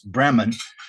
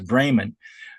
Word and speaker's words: Bremen: spelled it's pronounced I guess in English it's Breman, but it's pronounced in Germans Braymond.